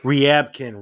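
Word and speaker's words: Ryabkin: Um Ripken or how do you pronounce it? Uh, Evan Riyabkin. Riyabkin. Riyabkin. There you go. I've always said Ribikin.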